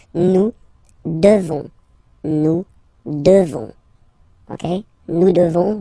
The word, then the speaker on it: devons: Classic ending O-N-S for nous. Okay? You just pronounce this on, O-N, this nasal. Okay? And then the S, final S is not pronounced. Nous devons.